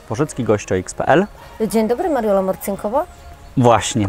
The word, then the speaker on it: Morcinková: Dzień dobry, Mariola Morcinkowa. Właśnie, Mariola Morcinkowa, a nie Morcinkowa, tak jak powiedziałem przed włączeniem kamer źle, ale już teraz wiem, że po czesku tak się wymawia.